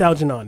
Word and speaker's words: Algernon: I don't know how to pronounce that. Algernon. It's Algernon.